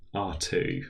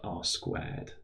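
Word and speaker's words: ℝ²: in the geometry course um and it is pronounced r2 rather RA than R squared quite often you'll also meet threedimensional space R3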